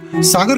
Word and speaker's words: सागर: अंग्रेजों ने सागर में बहुत बड़ी सैन्य छावनी स्थापित करी। जब अंग्रेज अफसर और सैनिक सागर का उच्चारण करते थे, तो उनके लहजे में ये सौगर सुनाई देता था।